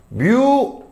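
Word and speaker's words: μ: 마찰력 구하는 공식은 우리가 마찰력은 스몰 f라고 얘기해서 뮤 n으로 정의를합니다. 어, 얘가 누구죠? 얘 뭐라고 읽었어요? 뮤라고 읽은 거야.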